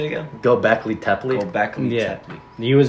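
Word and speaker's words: Göbekli Tepe: Gobekli Tepe.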